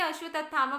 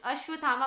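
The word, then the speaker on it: अश्वत्थामा: कौन मारता है अश्वथामा कुछ लोग इसे अश्वत थामा बोलते हैं कुछ अश्वथामा बोलते हैं सो कमेंट बॉक्स में आकर अब आप लोग ये कमेंट ना करें कि आपकी प्रोनंसिएशन ऐसी है ये प्रोनाउंस कर दिया सो अश्वथामा is fine so Draupadi के बेटों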